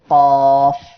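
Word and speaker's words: قاف: প্রিয় দর্শক শ্রোতা, এরপরের অক্ষর কফ। এই অক্ষর 3 আলিফ টান হবে। সবাই আমার সাথে উচ্চারণ করেন, কফ। এই অক্ষরটি জিহ্বার গোড়া তার বরাবর উপরে তালুর সঙ্গে লাগিয়ে দুই নুক্তাওয়ালা কফ উচ্চারণ হবে এমন।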